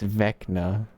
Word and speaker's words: Vecna: How do you pronounce Vecna? Vecna. Fuck. It's Vecna.